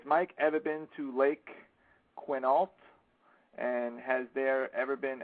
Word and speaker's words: Quinault: Has Mike ever been to Lake Quinault? And has there ever been activity out there? I think I pronounced that right. Quinault. Quinnault, right? Yes, I have been there, and that is a definite hot spot.